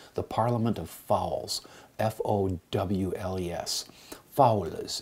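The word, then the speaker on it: foules: Fowls is how that's pronounced in Middle English.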